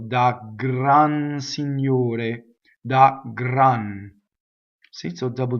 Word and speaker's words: signore: Da gran signore. Da gran. See, so double G. Gran. The R rolls because it touches a consonant. But signore, ore is a closed O and single R.